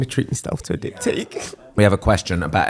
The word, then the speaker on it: diptyque: I've got diptyque candles now. Oh, so- yeah. Which for a while he was pronouncing as dick pic candles.